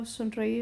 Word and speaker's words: sonreír: And here also, sonreír is going to be split into two separate syllables.